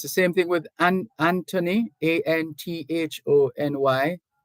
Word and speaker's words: Anthony: And it's the same thing with Anthony, Anthony. The H is silent.